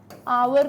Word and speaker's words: hour: Sound आ रहा है, आवर को हम वावल साउंड बोलते हैं, ठीक। इसीलिए यहाँ पर एन आवर आएगा क्योंकि ये जो एच है वो आपका साइलेंट है, ह का साउंड नहीं आ रहा है, आ का साउंड आ रहा है।